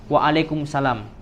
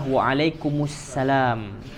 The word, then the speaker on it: wa'alaikumussalam: Assalamualaikum atau wa'alaikumussalam ya banyak yang mengucapkan ketika menjawab itu Waalaikumsalam padahal yang benar adalah wa'alaikumussalam itu nyambung ya Bapak jadi Ahmad kemudian